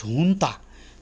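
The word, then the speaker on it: junta: so hun it's pronounced hun the J is silent jaapos to play side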